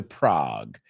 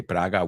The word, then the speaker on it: Prague: I was supposed to go to Prague. You say Praga, we say Prague.